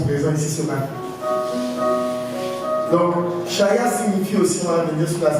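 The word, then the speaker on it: חיה: Le mot vivant vient du mot hébreu, shaya. Quelqu'un peut dire shaya? Pour ceux qui prennent les notes, ça s'écrit avec C-H-A-Y-A-H.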